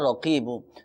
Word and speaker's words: رقیب: توجہ بات ہے، یا رقیبو، تو دیکھیں اس کو تلفظ کی ادائیگی کے ساتھ ادا کرنا بہت زیادہ ضروری ہے۔ اس میں را قاف، ایک ہوتا ہے باریک کاف، ایک ہوتا ہے موٹا قاف، تو اس میں قاف